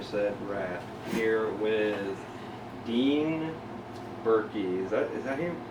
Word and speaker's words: Burkey: i am your set wrath here with dean berkey is that is that him how you pronounce it yeah i don't think i've ever